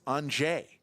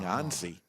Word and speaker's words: Anže: It's Anže. We've been saying Anzi.